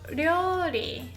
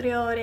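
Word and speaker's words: 料理: トラン, although 料理 is really hard to pronounce. It's like 料. So it's not exactly L or D or R in English, but 料. The tongue hits here. 料.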